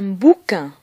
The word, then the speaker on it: bouquin: Un bouquin. Un bouquin. On remarque bien que la lettre Q est toujours suivie par la lettre U qui ne se prononce pas.